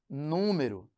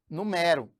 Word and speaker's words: número: Por exemplo, eu tenho aqui, ó, a palavra número, que é diferente de numero. Aqui, ó, número, e eu tenho numero.